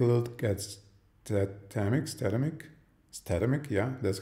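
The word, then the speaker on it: Statamic: we'll take a look at that Timex datamic statimic yeah that's how it's pronounced version two and that's a static site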